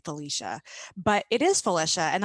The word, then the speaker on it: Felicia: indian half polish and the name comes from the polish side of the family which kind of surprises